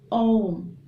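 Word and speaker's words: ॐ: ये ओम का उच्चारण जो होता है, ओम नहीं कहना है आपको, ये होता है ओम, ठीक है, जिसमें आपका AUM होता है।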